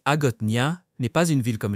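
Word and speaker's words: Hagåtña: La capitale de Guam, Agotnia, prononcé Agotia, n'est pas une ville comme les autres.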